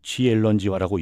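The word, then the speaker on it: 千人计划: 중국어로는 치런지화라고 읽죠.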